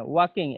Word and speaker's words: walking: এইটাই, হ্যাঁ, ওয়াকিং, এল এর উচ্চারণ হবে না, ঠিক আছে? ওয়াকিং, নট ওয়াকিং।